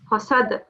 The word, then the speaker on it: حسد: And this is a qalqala letter, so you have a slight qalqala here. Hasad.